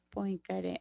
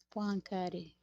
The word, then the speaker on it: Poincaré: se pronuncia Poincaré aquí en el traductor de Google.